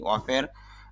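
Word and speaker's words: of: In charge অফ, যদিও আমরা এই উচ্চারণটাকে এই অফ বলি, এখানে এফ এর উচ্চারণটা ফর মতো বলি, আসলে অর পরে যদি একটি এফ থাকে তাহলে এই প্রিপোজিশন হিসাবে ওই অফের উচ্চারণটা ভর মতো হয়ে যায়, এই যে ভ দেখছেন, ভর মতো হয়ে যাবে, এফ এর ফর মতো হবে না এখানে, এই জন্য বলতে হবে ইনচার্জ অফ, অর্থ হলো দায়িত্বে।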